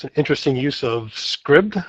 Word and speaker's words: Scribd: I think that's how you pronounce it. Is that right, Andrea? I would say scribed, but I am not any more confident in it than That you makes are. more sense, scribed.